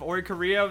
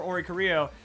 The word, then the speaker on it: Oricorio: Now, a lot of people get mad at my pronunciation of Oricorio. Now, mostly it's just based off of, like, the Bele style, I guess that's what it's called. Because I just think, like, Rio.